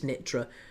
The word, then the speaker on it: Nitra: I think it's Nitra. It's pronounced Nitra.